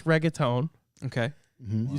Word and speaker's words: reggaeton: this it i think it's reggaeton okay mm-hmm you said it right yeah well